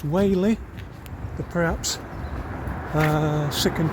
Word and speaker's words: Whalley: uh in the town of uh wh not Wally even though it's spelled w a w l e y I'm assured it's pronounced wh the perhaps uh sick and tired of the